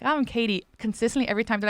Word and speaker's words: Katie: understand me but and the way I would have pronounced my name growing up was ke okay so that's how I don't pronounce my T's usually and that's my accent would be ke so everybody would call me Katie and when I first